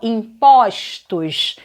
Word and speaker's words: impostos: Imposto, ó, forma fechada. Botei no plural, impostos. Olha como é que abre.